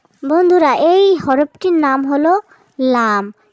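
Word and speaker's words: لام: বন্ধুরা, এই হরফটির নাম হলো লাম। কি নাম বন্ধুরা? জিহ্বার আগার কিনারা সামনের উপরের দাঁতের গোড়ার সাথে লাগিয়ে আমরা উচ্চারণ করব।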